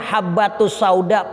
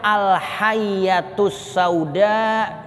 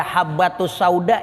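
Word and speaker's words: الحبة السوداء: ada kesalahan khat iml kudunya bacanya habbatus sauda pakai ba yang titiknya atu kitabnya remeng-remeng itu titik di kitab itu kayak ada dua jadi bacaannya alyatus sauda kudunya dibaca habbatus sauda jinten hitam jinten ini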